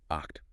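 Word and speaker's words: acht: It's gay sound. It's coming from the back of your throat almost like you're clearing it. Oct. It's not a clean key sound like in the word act.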